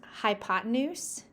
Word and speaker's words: hypotenuse: Okay, let's move on to this weird word. It is pronounced hypotenuse, and the hypotenuse is the third side.